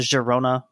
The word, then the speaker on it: Girona: to call it the Girona with the the Catalan pronunciation since that's that's what it's named after what would the other